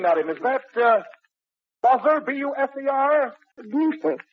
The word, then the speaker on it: Buser: Now, Minnie, the name, madam, is that, Buzzer, B-U-S-E-R? Buser. Buser. Oh, I spelled it correctly. I probably mispronounced it. I'm sorry. Buser is correct.